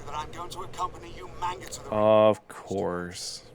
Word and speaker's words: Umaga: So Umaga became Umanga, which was hilarious.